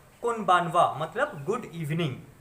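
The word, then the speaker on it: こんばんは: Next है कोनबानवा। तो देखिए अगेन ये जो है वो इसका प्रोनाउंसिएशन, यहाँ पे हा का प्रोनाउंसिएशन जो है वो हो जाएगा वा।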